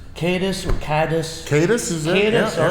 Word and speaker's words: Kadis: okay juice cadis or cadis cadis is cadis all right because you know we French sometimes pronounce things differently okay yeah yeah so I